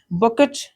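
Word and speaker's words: bouquet: शक्ति है कुंज लिख लेंगे कुंज ठीक है बकेट बुके लिखा हुआ है देखिए यहां पर कई अच्छे साइलेंट रहेगा ये क्या है बुके मिंस क्या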